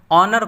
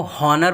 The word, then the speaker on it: honour: हो सकता है कि आप HALF हाफ को हाल्फ और HONOUR ऑनर को हॉनर पढ़ते हो, जो बिल्कुल गलत है और सुनने में भी बहुत बुरा मालूम होता है।